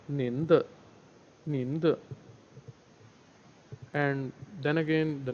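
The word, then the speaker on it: 你: So normally in Chinese, the same kind of expression is used as nin, nin, and in Urdu we call it aap, aap.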